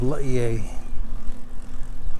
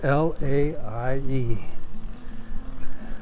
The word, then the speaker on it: Laie: explore my hometown of laie and the spelling on that is l-a-i-e in other words every vowel is pronounced which is fairly typical in the hawaiian language our town of